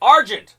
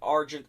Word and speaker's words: Argent: The Consortium: some people pronounce it arjun the consortium some people pronounce it argent the consortium so i'm